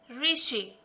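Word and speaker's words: ऋषि: First word is re plus sh plus e. Re, sh, e, rishi.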